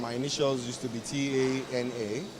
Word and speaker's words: Tana: And my initials used to be T-A-N-A, and so you hear some people pronounce it Tana, Tana.